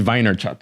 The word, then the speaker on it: Vaynerchuk: Gary Vaynerchuk.